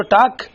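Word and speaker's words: talk: لکھنا پڑے گا نا، لیکن تلفظ میں تو نہیں آئے گا۔ اور واک اور ٹاک، اس کے درمیان میں جو ایل بیٹھا ہوا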